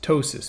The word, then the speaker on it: ptosis: ptosis and again protip silent p pronounced ptosis pto s is ptosis is when the muscle